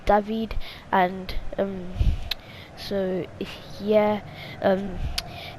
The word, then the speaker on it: David: jonathan david i know i normally keep on saying david but i realized that his well the pronunciation is actually david and um so yeah